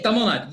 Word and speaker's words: Tamil Nadu: You pronounce it the right way. Yeah, Tamil Nadu.